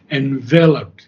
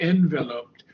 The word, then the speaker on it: enveloped: with its stupendous limbs the accent is on the second syllable enveloped not enveloped but envelop but enveloped him enve enve okay it's V and her okay enveloped enveloped yeah if we say envelope that's different but this is enveloped I means surrounded him